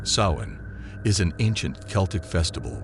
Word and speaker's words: Samhain: come for them to Samhain. Pronounced sowing is an ancient Celtic